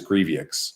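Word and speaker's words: Grevioux: grievick's who is um actually it's grievous if i'm saying it correctly rise of the gin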